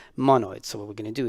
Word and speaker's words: monoid: ID so it's called mono ID and it's pronounced mono it's so what we're gonna do is we're gonna